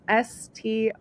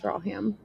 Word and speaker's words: Stracham: And then my last name is S-T-R-A-C-H-A-M. Looks like Stracham, pronounced Straham. Okay, so the C is silent.